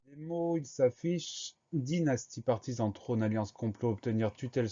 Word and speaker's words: partisan: Première syllabe, par, P-A-R. Deuxième syllabe, ti, T-I. Troisième syllabe, zan, S-A-N. Le son Z, on l'obtient grâce à un S, puisqu'il est entouré de deux voyelles. Et le son AN de partisan s'écrit bien A-N.